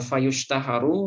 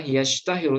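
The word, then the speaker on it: يشتهر: Nah, ini fayushtaharu majhul. Nah, kalau yang saya lihat yang lebih baik bacanya adalah yashtahiru, ishtahara yashtahiru. Fayashtahiru bi syai'im minha.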